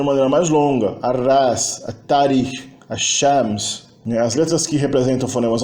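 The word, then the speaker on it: الشمس: É um prefixo na palavra que se funde na pronúncia, não na ortografia, na pronúncia com uma consoante alveolar seguinte, quando é prefixado a um substantivo que começa por alveolar. Shams é sol, o sol é Ashams, Tarikh é história, a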